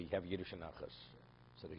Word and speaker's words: Nachas: Yeah, but if you're Russian, you don't say nothing. You say Nochas. Say, you really pronounce the komats.